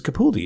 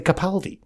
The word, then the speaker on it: Capaldi: Why would you ever think it was Capaldi? It's obviously Capaldi. Yeah, I mean, it's spelled sort of phonetically. Do you know what I mean? It's not difficult to say it.